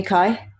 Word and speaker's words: Kai: Call me Kai. rhymes with sky.